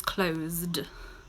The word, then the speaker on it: close: Okay, for example, close, we pronounce that S as a Z, and we can feel it here.